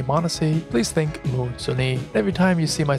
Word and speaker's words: Moosonee: 1,481 inhabitants of Moosonee, because the town is actually called Moosonee, and I've been pronouncing it as Moosonee all this time, and I've been spelling it incorrectly as well. It's with one M and one N.